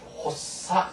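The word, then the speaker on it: 発作: 물론 이외에도 여러 가지가 많습니다만 이처럼 작자를 사그라고 발음하지 않고 여기서 사교, 그 다음에 작용은 사요, 그 다음 발작은 헛사, 그 다음 조작은 소사. 이처럼 이런 작자를 전부 다 사라고 읽는 점에 아주 조심하시고요.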